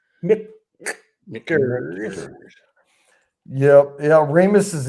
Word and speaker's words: Michter's: you pronounce it Michter's, you're pronouncing it wrong. Mixters.